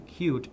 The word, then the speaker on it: Qt: toolkit whereas plasma is built on cute which is spelled QT Firefox is added because